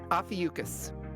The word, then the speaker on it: Ophiuchus: pronunciation. It's Ophiuchus.